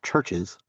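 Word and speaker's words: CHVRCHES: Uh it is pronounced Churches.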